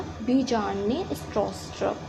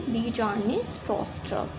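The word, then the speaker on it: Bjarne Stroustrup: ने, स्ट्रॉस्ट्रप ने, और इनके नेम के बहुत सारे प्रोनाउंसिएशंस होते हैं जो कि अलग अलग लोग अलग अलग टाइप से लेते हैं। सो हम बोलेंगे बीजार्न ने, स्ट्रॉस्ट्रप। सो ये जो है डेनमार्क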